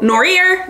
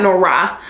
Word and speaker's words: Noire: or norier okay because the protagonist famously says in the book norier the American way right not Nora the way that the French pronounce it and so the author